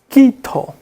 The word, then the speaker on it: Quito: Okay, this is ka. So you see I have C-A, Camilo, but here I have Q-I-T-O. So, Quito. Entonces tenemos la pronunciación Quito. Uso la misma pronunciación en kilo. So, in Spanish, so if you were talking about the linguistic part of the language, we use the same pronunciation for all these 3 consonants.